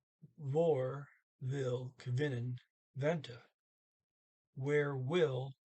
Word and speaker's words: hvor: There's a silent H in the word where, vor, HVOR.